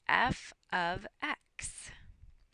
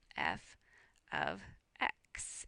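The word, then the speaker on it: f(x): function notation is this and we pronounce it f of X f of X is how we pronounce it and it just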